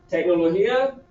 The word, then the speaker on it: tecnología: Tecnología, acento, ¿sí? Acento en I.